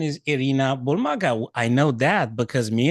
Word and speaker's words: Irina Bulmaga: Actually, the original pronunciation is Arena Bulmaga.